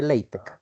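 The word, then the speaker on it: LaTeX: acá ap parte se llama látex sí se pronuncia leitec sí Ese es el lenguaje eh Para trabajar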